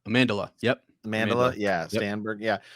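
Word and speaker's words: Amandla: St uh am how do you say it amandela amandela yep amandela yeah stanberg yeah I actually will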